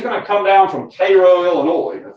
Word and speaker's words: Cairo: this so he's going to come down from Cairo Illinois that's how you pronounce that not Cairo and he's going to be given a command